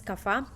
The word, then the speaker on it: Kapha: movement is fine so and then kappa is pronounced as kapha uh it is based on earth and water